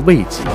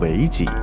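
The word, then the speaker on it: 为己: 它不是读作为己，而是读作为己。为是修为的为，意思是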